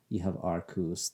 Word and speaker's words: Arceus: Uh, so yeah, today we are talking about Pokemon Legends Arceus. And yes, I do believe that is the correct way to pronounce it. It's pretty clear. Ark as in, Noah's Ark, Ark of the Covenant, religious, godly stuff from the Bible.